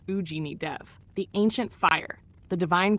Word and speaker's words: Agni Dev: We're talking about Agni Dev, pronounced Ujini Dev, the ancient fire, the